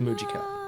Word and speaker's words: Mujica: Okay, it is pronounced Mujica.